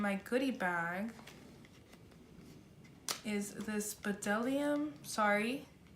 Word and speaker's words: Bdellium: goodie bag is this Patel iam sorry the B is silent I learned that at the show Delhi um lipstick and can we